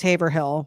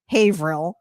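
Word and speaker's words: Haverhill: He wrote what what I would have pronounced Haber Hill, but it's pronounced Haveril.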